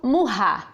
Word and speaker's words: Maurat: mais uma vez Eliandro Murrá. No primeiro programa eu chamei Eliandro de Eliandro Murrá, que é a pronúncia correta do nome dele.